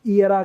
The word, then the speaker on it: era: तो देखो ई का साउंड ये अलग ही है, एरा, ये उस एरा की बात है, उस एरा की नहीं, इसको ईयरा कहेंगे, युग, ईयरा।